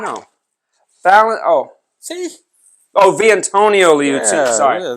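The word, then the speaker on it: Vitantonio Liuzzi: It doesn't say Valentino. That doesn't say Valentino. Valentino's with an A. That's an I. No. See? Oh, Viantonio Liuzzi. Yeah, sorry. Yeah, Viantonio Liuzzi.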